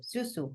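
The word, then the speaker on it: Xuzhou: Okay, how do you pronounce it? XCMG, no? But the like the Z Zuzu. The XCMG. Wait, I have the name. Susu Construction Machinery Group. Susu. It's Susu, no?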